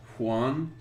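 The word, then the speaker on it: Huion: art supplies this lighting table it's called a it's spelled hu IO n huan huan and I think a lot of tattoo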